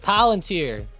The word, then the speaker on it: Palantir: Palantir. Down around $23. It ends with an E sound.